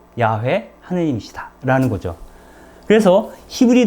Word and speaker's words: 야훼: 그 이름이 곧 야훼. 실제로는 그 히브리어에 자음만 표기되어 있는데요. YHWH라는 자음이죠. 그리고 YHWH라고 하는 자음 사이에 주님이라고 하는 말, 아도나이죠. 아도나이의 모음을 붙여서 발음을 하니까 야훼, 여호와 뭐 이런 발음이 됩니다.